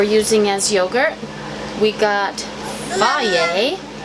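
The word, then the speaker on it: Fage: The starter that we're using as yogurt, we got Faye. It looks like phage, but it has pronunciation guide right on the side. Faye.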